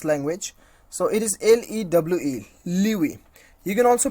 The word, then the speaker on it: lewe: So it is LEWE, Liwi. You can also pronounce you can also know the pronunciations of this particular word clicking on this on this sound icon.